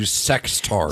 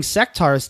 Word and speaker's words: Sectaurs: You put a D at the end before, which is not appropriate.